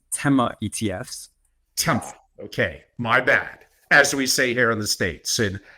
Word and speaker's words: Tema: Tema.